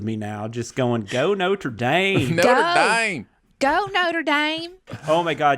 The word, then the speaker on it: Notre Dame: Aaron earlier, it is Notre Dame, right? Like that's that is the correct pronunciation. That is the correct French pronunciation. Yes. But the university and the football team, everybody just calls them Notre Dame.